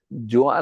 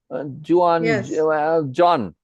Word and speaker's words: Juan: Juan, like I said, Juan, John. See, somebody hears me. It's hard to say Juan because it's got a break in the pronunciation, and we don't like to do that. We like to merge things together. It's much simpler and more fluid. So Juan becomes John. Yes.